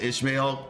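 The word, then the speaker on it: Ishmael: Charar said it right first with Ishmail.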